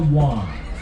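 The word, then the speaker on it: wye: In order to turn around, we are about to enter a track structure called a Y. That's spelled W-Y-E.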